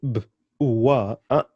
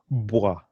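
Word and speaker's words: bwa: You can't say b, uwa, hapana, no, no, no, no, hapana, no. It's boa, boy, bui, bo, boo.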